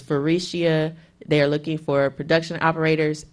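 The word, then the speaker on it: Faurecia: have to do is type in the name ferecia and it's spelled f as in Frank a u r e c i a and that is farishia they're looking for production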